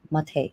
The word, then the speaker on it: Matej: Hello, can I pronounce it Matej or Matej? Mate, exactly. Matej, okay, like latte. Yeah, Okay, like that, so just like that.